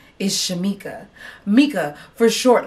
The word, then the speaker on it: Shamika: j woods and allowed what you said was shalamikwa or shaniqua or anything that was not my name so for you who has been confused let me spell it out for you again my name is shamika and that is spelt